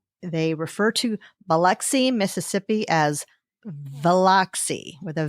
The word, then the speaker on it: Biloxi: For those familiar with Mississippi, the community is actually Biloxi, pronounced Biloxi. That is with a B and not a V.